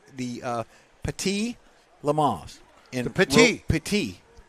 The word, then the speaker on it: Petit: The Petit. Petit. It's spelled different. I looked this up. It's pronounced Petit. Petite means. Spell it. P-A-T-E-E is the way it's pronounced.